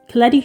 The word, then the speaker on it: Koletti: Behind all the headlines, criticism and unusual creative output, the reality is Koletti, who rhymes with spaghetti, was or still, I